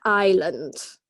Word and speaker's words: islands: good guys okay and what letter do we not pronounce okay very good Islands not with the S okay how about this